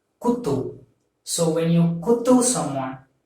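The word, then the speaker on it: குத்து: So you have to pronounce this as kutu.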